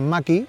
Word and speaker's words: Mach-E: su fe eléctrico este mustang macchi que así se pronuncia según nos ha dicho la marca tiene una lista de